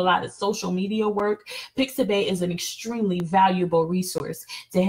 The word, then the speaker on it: Pixabay: Next, another resource I want to share with you guys is called Pixabay. So that's pronounced, so it's spelled P like Peter, IXABAY, .com.